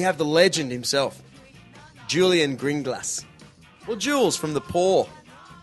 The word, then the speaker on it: Grynglas: I was about 11 and ago I said green glass and I've been calling myself that ever since